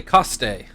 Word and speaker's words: Coste: We'll see how they pronounce it. They say Coste. Okay, so we'll go with that. Coste at the plate.